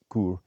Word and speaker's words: Coorg: So they do spell it Coorg, Cwoorg, but pronounce it as Coorg, not with a G.